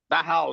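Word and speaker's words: Dachau: então nós somos a dar ral né É assim que se pronuncia sim dar ral é daral né ficamos em Munique e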